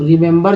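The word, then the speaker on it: remember: फिर से मैं आपको बताता हूँ यहाँ पर, पहला ई का उच्चारण ई, दूसरा ई का उच्चारण ए, तीसरा ई का उच्चारण अ हुआ। कैसे लिखते हैं इसे? पढ़ते हैं क्या है? रिमेंबर, रिमेंबर। तो रिमेंबर जो है दोस्तों लिखा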